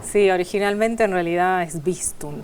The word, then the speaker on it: Swistun: Sí, originalmente en realidad es Swistum. Swistum. Claro. O sea que la W ahí sería casi como una B.